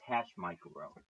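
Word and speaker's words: HashMicro: It's hash micro, not H.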